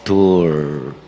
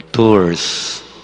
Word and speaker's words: Tours: morning three things about Saint Martin of tour or tours as it is pronounced by others Saint Martin of tour